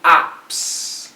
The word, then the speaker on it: opts: And oftentimes, he opts. Okay, the T is silent. The S kills the T.